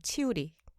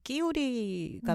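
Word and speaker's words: Chiuri: 그리고 마리아 그라치아 치우리, 원래 이태리어로 끼우리가 맞는 발음이라고 하는데 참 다른 분의 이름을 가지고 이렇게 생각하면 안 되는데 저는 들을 때마다 그렇게 경상도 사투리 같아요.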